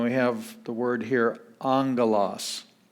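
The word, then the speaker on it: ἄγγελος: the word here angolas the first gamma has an n sound and then we get the g sound galas angolas that's where we get the word angel of course when we spell it in english we insert the end there the way that the the word sounds but it's spelled with two gammas in greek so angolas means a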